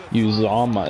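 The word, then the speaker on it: Uzomah: By his tight end Uzama is how you pronounce it.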